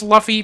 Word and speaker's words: Luffy: got him some slack man but it is pronounced Luffy you're right Rick who's Luffy throw my break